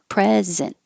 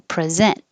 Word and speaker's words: present: to give you a present present present if it's the verb i need to present present and if it's a noun the action the thing